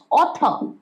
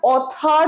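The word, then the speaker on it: author: হু ইজ the best অথর হু ইজ the best অথর এটা অথার নয় র উচ্চারণ হয় না শেষে এটা অথর অথর র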